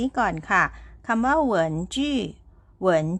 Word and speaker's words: 文: สะกด ยัง ไง ค่ะ คำ ว่า เหิน นะ คะ มี พยัญชนะ ก็ คือ Double U ค่ะ เป็น พยัญชนะ กึ่ง สระ นะ คะ ออก เสียง อู ค่ะ ตาม ด้วย สระ อีก 2 ตัว ก็ คือ E กับ N นะ คะ ออก เสียง เอิน ค่ะ วรรณยุกต์ เสียง ที่ 2 ใส่ ไว้ บน ตัว E ค่ะ มา ผ่าน คำ นี้